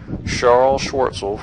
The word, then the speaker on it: Charles Schwartzel: This is Charles Schwartzel, for everybody out there that was mad at me for mispronouncing his name.